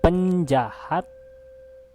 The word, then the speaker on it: penjahat: Penjahat and danger has same sounds of penjahit and danger. Also penjaga and danger.